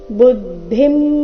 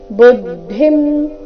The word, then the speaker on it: ಬುದ್ಧಿಂ: ವ್ಯಾಮಿಶ್ರೇಣೇವ ವಾಕ್ಯೇನ ಬುದ್ಧಿಂ ಮೋಹಯ ಸೀವಮೇ ತದೇಕೌವದ ನಿಶ್ಚಿತ್ಯ ಏನ ಶ್ರೇಯೋಹಮಾಪ್ನುಯ ವ್ಯಾಮಿಶ್ರೇಣೆವ ಮೀ ಮೇಲೆ ಶರ್ದು ಆಘಾತ ವ್ಯಾಮಿಶ್ರೇಣೆವ ವಾಕ್ಯೇನ ನ ರಸ್ವ ವಾಕ್ಯೇನ ಬುದ್ಧಿಂ ಮೋಹಯ ಸೀವಮೇ ಬುದ್ಧಿಂ ಇಲ್ಲಿ ಬುದ್ಧಿಂ ಬೇಡ ಬುದ್ಧಿಂ ಧಿ ಮಹಾಪ್ರಾಣ ರಸ್ವ ಬುದ್ಧಿಂ ಮೋಹಯ ಸೀವಮೇ ತದೇಕೌವದ